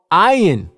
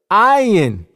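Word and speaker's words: עין: and the vowel letters, the original sound this letter makes is I. Even today in modern Hebrew, this letter is called ayin. You can clearly hear the I sound at the beginning of the word, ayin.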